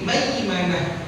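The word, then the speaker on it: مَيْمَنَة: Cara baca itu ai atau au, ya, ai atau au. Contoh di ayat yang ke-18, ulaika ashabul maimanah. Jadi maimanah, ya, maimanah.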